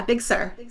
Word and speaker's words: Big Sur: Yeah, Big Sur. Big Sur, not S-I-R, it's S-U-R.